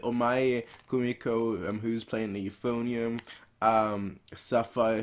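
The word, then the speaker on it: 黄前久美子: characters, 5 really, with Omae mo Kumiko. That's not quite how you say it. Omae Kumiko, who's playing the Euphonium, Sapphire, who's playing the contrabass, Kazuki, who's playing it.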